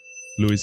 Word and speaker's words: Luis: He said it's just a way to say Luis. So, yeah. Luis it is.